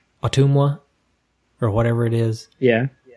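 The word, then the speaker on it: Ottumwa: And this is how you're supposed to pronounce it. As a native Iowan. Okay, maybe I should turn my volume up here. Otumwa.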